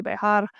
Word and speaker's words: Bexar: So obviously it's pronounced Bear, but it's Bexar, Bexar Barbell. For anyone who doesn't know, it's pronounced Bear because it's the county we live in.